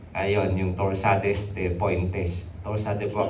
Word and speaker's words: torsades de pointes: Torsa de pois kasi yung ginagamit na pronunciation yan.